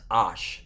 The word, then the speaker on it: Aish: mispronouncing the word fire it's Ash not with the eye there that's a h s